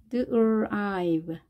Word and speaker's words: drive: drive, drive, drive. 자, 드 소리를 약하게 그 다음에 r 하시면서 drive.